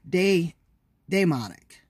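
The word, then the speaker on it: daemonic: Richard Wright's not demonic it may be day demonic because the spelling of the word is dae mo n IC genius of richard wright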